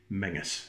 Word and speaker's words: Menzies: Menzies Emmy and z are yes but it's pronounced menace menaces that ain't where you see it so mrs.